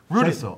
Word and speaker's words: Rudasill: Rudasill. R-U-D-A-S-I-L-L. Ru, as in like, you know, Kanga and Ru. Rudasill.